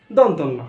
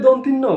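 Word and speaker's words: দন্ত্য ন: এটা কি দন্তন্য, আমরা সাধারণত দন্তন্য বলি, সেটা দন্তন্য নয়। আর অনেকে বলে দন্তিন্ন বলি, দন্তন্য দন্তিন্ন, ও যেটা আমরা শুদ্ধভাবে বলি সেটা বলি দন্তিন্ন, আসলে দন্তিন্ন নয়, এটা হবে কি দন্ত ন, দন্ত ন। এখন থেকে আর দন্তিন্ন নয়, এখন থেকে দন্ত ন।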